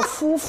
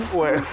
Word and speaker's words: fouet: C'est pas bien prononcer fou. C'est fouet ou c'est fou? Non, c'est fouet. Ah, c'est fouet.